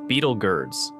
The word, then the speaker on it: Betelgeuse: Beetle juu often pronounced Beetle girds or beetle juu is a red super